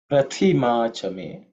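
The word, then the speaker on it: प्रतिमा च मे: In terms of pronunciation, the second letter is prathi, is the second letter in the third varga, so it has to be aspirated. Prathi, okay, with extra air, thi.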